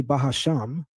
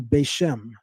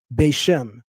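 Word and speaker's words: בשם: They're the ones that say Bahasham. No other communities of Hebrew Israelites that are completely not connected to one west pronounce this word that way. We call it in Hebrew Bashm.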